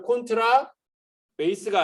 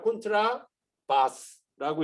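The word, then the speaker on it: 콘트라바스: 그러면 콘트라 베이스가 아니라 콘트라 바스라고 읽어주는 게 원래는 맞고 더블 베이스 이렇게 읽을 때는 콘트라 바스라고 읽어주는 게 맞아요.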